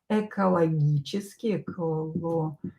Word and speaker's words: экологические: And in the brackets we will write экологические проблемы. Ecological problems, right? Экологические, ударение на букву Е, и, проблемы.